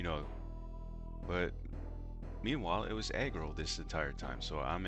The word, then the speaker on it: aggro: By the way, in my video yesterday, I was pronouncing that really wrong. I was saying Argo. I honestly thought it was Argo this entire time, you know, but meanwhile, it was aggro this entire time.